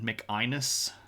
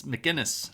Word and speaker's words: McInnes: now and then, but my last name is McInnes, right? And no one pronounces it properly either. I get too many K sounds in there. I've actually had McInnes, which is like, no. just no. Anyway, um, it's McGinnis, right? And will put the G